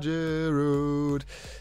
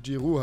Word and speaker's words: Giroud: Ich weiß, dass er eigentlich Giroud heißt, aber ich glaube, er wird in England Giroud ausgesprochen oder Giroud. Oder ich habe keine Ahnung, warum ich das D da rangepackt habe. Steht halt im Namen drin, das wird zwar nicht mitgesprochen. Egal, ist ja auch vollkommen Lachs.